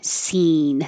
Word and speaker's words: scene: moving between those sounds seeing whether you spell it like um seen in a movie seen in a play or past tense I have seen that it sounds the same scene and the tongue is